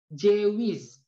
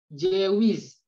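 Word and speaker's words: ceviz: Jadi C yang nggak ada ekornya itu dibacanya J. Jadi gimana cara membacanya? Jewish. Jewish.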